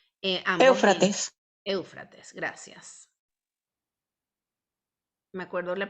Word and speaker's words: Éufrates: ¿Cómo se pronuncia? Eufrates. Éufrates.